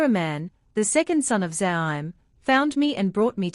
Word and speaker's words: Zaim: Doesn't the Zam have his children?" She mispronounced it. "Zaim." He corrected her. "Yeah, that. Zaim." She blinked, feeling stupid. "All their children died." "Yorzium." "Zaim," he again corrected her.